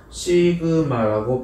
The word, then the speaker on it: 시그마: 요거 아까 전부터 보이던 표준 편차로 나타내는 요 표시를 읽을 때는 시그마라고 발음을 하시면 됩니다.